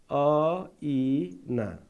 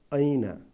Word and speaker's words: ऐना: अ इ ना हैन त, ऐना यसरी हामी उच्चारण गर्छौं। ऐना तपाईहरु पनि सँगै उच्चारण गर्नुस् है। ल त्यस्तै अर्को हेर्नुस् त, हो स्तरीय।